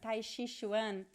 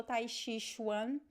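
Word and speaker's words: tai chi chuan: elaborate okay so another word yes taishi one tai shishwan i don't remember the list of the words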